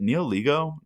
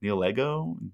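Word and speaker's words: Nihilego: And then this card, which I'm going to pronounce terribly, is it Neoligo? Neolego? Neoligo? You know? I think you actually are pretty close. I think it is Niligo or Cool.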